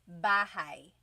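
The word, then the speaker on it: bahay: Bahai.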